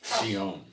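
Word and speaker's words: ציון: It's pronounced Sion in Hebrew.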